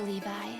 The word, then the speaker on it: Levi: protect me thank you Levi oh it's Levi I've been pronouncing it Levy this whole time oh my